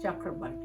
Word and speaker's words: Chakrabarty: chakravarti in but actually in english we we pronounce it just chakra body so i had the